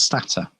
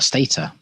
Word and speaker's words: Stata: But about a different software package for analyzing data, something called Stata, or Stata. It's pronounced differently by different people.